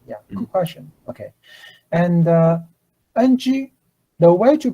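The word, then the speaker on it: 黃: So in Taiwanese, if you want to say the color yellow, okay, as I input in the chat box, you pronounce ng with a rising tone, like a Okay, so repeat after me.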